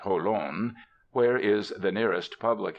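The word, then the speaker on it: Jolon: 20 Pleasant miles to Holan they pronounce it holon where is the nearest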